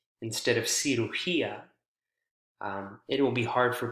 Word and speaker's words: cirugía: important to make sure you stress the correct syllable. If you accidentally, like the example I gave, cirugía, instead of cirugía, it will be hard for people to understand